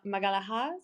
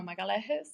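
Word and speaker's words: Magalhães: try it jiao pedro pedro de mala magalajas no magalajes i'm so sorry i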